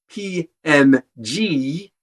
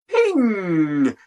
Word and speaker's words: PNG: everyone pronounces it as p m g it turns out that it's creator specified that the correct pronunciation is ping ping was the answer